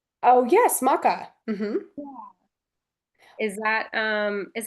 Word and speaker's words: maca: Um, but yes, I actually wanted to ask you uh about I think I'm pronouncing this right. Maca. Oh, yes. Maca.